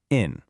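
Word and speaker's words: 인: In Korean hungle, the sound for this hanja is in, pronounced in, right?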